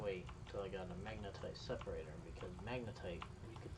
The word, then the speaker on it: magnetite: I don't remember oh the magnetite excuse me not not magnite the magnetite I think it's how you say it I'm going to